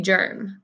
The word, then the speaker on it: germ: get rid of every germ. Build the word germ. Good, this is a tricky one. I hear like jumping jack, but germ is actually spelled with a G-E. Germ.